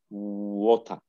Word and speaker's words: water: In letter R in patch, we don't pronounce R in final possession or in the final word in patch. So in patch, it's water. So here it's like O, this is T, R is not pronounced, it's something like schwa, it's water.